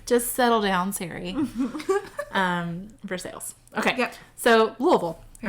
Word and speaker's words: Versailles: don't worry about it like for sales oh yeah don't go there i love it when siri is like versailles and i'm like no no that's for sales take a step back